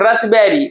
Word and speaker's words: raspberry: हम लोग ये देखिए इसको क्या बोलते हैं, रसबेरी, मिठाई वगैरह का नाम होता है रसबेरी, तो यानी कि रसबेरी क्या साइलेंट है यहाँ पर, आपको इसमें पी साइलेंट मिल गया।